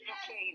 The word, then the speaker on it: Duquesne: Yes, it's Duquesne, really.